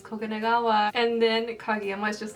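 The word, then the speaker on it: 黄金川: He's like, it's Koganegawa.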